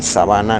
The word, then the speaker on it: sabana: Por ejemplo, en español sábana y sabana no es lo mismo.